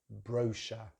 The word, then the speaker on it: brochure: the end, but actually the main difference is the stress. So in British English, the stress is on the first syllable, brochure.